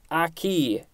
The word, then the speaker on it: akee: and next and last word for today is aki a-k-e-e this is a variation of aki spelled